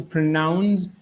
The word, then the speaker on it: pronounce: அதிலையும் இருக்கிற o வந்துட்டு schwaவாக மாறும். So we pronounce it as pronounce.